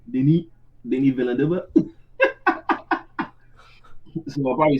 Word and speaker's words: Denis Villeneuve: He's French, like Denis or Dennis, but French movie saying Denis Villeneuve.